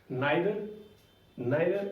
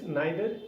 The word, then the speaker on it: neither: Neither, you can also pronounce like this, neither into neither, so you can also say like neither, आप neither भी बोल सकते हो इसे और neither भी बोल सकते हो, so both are right, fine।